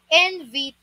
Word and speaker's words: invitation: The correct pronunciation for this is invitation. Invitation. Hindi invitation. Invitation. Parang tunog letter U siya.